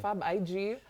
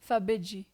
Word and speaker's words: Fabeji: Fab IG. Fab, you know? Teach us how to pronounce it? Yeah, Fabeji. Fabeji. Yeah, you got it.